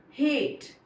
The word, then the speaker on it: hate: It becomes her ate, hate.